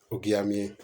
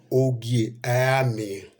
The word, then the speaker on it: Ogiame: Olakoko, I want to warn you the way you pronounce Ogiamie. Ogiamie Irebo, who was the first Ogiamie, was Ogiso Irebo after his father Ogiso Evia. Now, it is called Ogiame.